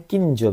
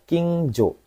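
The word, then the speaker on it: 近所: Oke, ini ah lupa saya nulisin ini bacanya Kinjo Minasang. Jonya pendek ya. King Jo.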